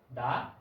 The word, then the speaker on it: the: তাহলে বুঝতেই পারছো যে যখন কোনো বাক্যে THE এর পরের শব্দটির প্রথম বর্ণ কনসোনেন্ট হয়, তখন THE এর উচ্চারণ হবে দা, এবং যখন ভাওয়েল হবে তখন THE এর উচ্চারণ হবে দি।